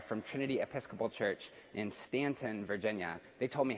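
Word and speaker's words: Staunton: Trinity Episcopal Church in Stanton, Virginia. They told me how to pronounce it because I was trying to pronounce the U. Don't do that. It's Stanton, Virginia.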